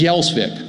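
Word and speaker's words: Gjelsvik: given name wasn't Thune, it was Yelsvik. It was spelled G-J-E-L-S-V-I-K.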